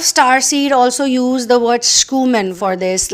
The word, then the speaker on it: Schumann: Schumann or Schumann uh usually I I would say Schumann actually the spelling is s-c-h-u-m-a-n-n so there is the word human and there is SC so you can pronounce it whatever way you want you know schoeman or Schumann or Schumann but this is something